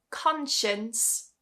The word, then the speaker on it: conscience: And then two more words that just slightly break this rule, but still the C is silent. Conscience.